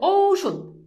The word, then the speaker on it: ঔষধ: ও রস যেমন দেখো ঔষধ এই যে দেখো ঔষধ এখন দেখো এই যে উচ্চারণে ঔ ঔষধ ঔষধ বুঝছো এরপর দেখো অনুস্বর